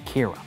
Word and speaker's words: Kira: No one knows who's committing these murders, but they start calling this vigilante Kira, which is the Japanese pronunciation of killer.